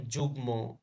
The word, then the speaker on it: যুগ্ম: আত্মীয় আত্মীয় পদ পদ কিছু ক্ষেত্রে ম ফলায় ম এর উচ্চারণ বজায় থাকে যেমন যুগ্ম যুগ্ম জন্ম গুলম গুলম যুগ্ম জন্ম গুলম এগুলোর মফলাটা কি বজায় আছে উচ্চারণ করতে হয় জ বর্ণের উচ্চারণ কি